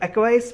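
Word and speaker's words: acquiesce: तो देखो एक्चुअली इसका नहीं क्या प्रोनाउंसिएशन एक्वीस होता है, लेकिन हम एक्वाइस याद रखेंगे स्पेलिंग के लिए।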